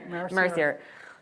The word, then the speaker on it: Mercier: I am getting reports that the Philippa Ryder book is by I'm going to have to ask for pronunciation again. Mercier.